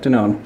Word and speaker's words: Danone: Is that Danone?